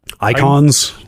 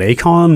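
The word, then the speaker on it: Eikon: summons in this I icons yes yeah I went into this wonder is it Akon what are we doing here but no it literally is just pronounced icon doesn't every Final Fantasy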